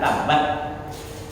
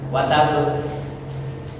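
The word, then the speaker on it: تَبَّتْ: Jadi karena ada tas di ujung, jadi cara bacanya bukan watabut. Orang yang baca tabbat yada abi lahabin wa tabbat. Lepas, karena ada tasdid, maka sedikit tahan.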